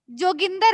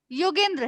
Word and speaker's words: योगेंद्र: ही लिखोगे जैसे मैं जोगिंदर है लोग गांव देहात में योगेंद्र योगेंद्र है मैं योगेंद्र है लेकिन गांव देहात में लोग क्या बोलते हैं जोगेंद्र अब जो आप सुनोगे